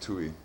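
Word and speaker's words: Tuy: It's definitely H, and his last name looks like Thai or something, but it's pronounced Tui.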